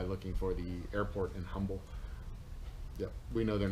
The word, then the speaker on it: Humble: H is proper so the H is silent there's a competing story